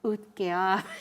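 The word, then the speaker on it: Utqiaġvik: Utkia.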